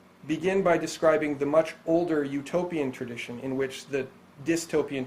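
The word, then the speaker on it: Eutopia: something like no place however utopia sounds the same as utopia spelled with EU which means beautiful or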